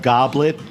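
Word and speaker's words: gobelet: the land is covered it's spelled goblet go yeah like Goble yeah Goble and that's the way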